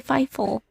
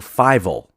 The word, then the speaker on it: Fievel: So it's spelled Fievel. So Fievel. Oh, I said Fievel.